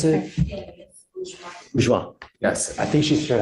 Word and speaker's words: Bourgeois: And then I also was appointed Miss, how do you pronounce it? Bourgeois.